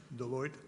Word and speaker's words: Deloitte: That's how you say it in French, Deloitte.